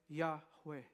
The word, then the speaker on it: Yahweh: Mas os estudiosos dizem que, muito provavelmente, a forma correta de se pronunciar o nome de Deus é Yahweh.